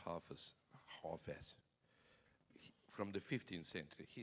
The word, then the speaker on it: Hafez: And you have a very, very important poet, Hafez. Hafez, they say, the Persian friends. We pronounce Hafez.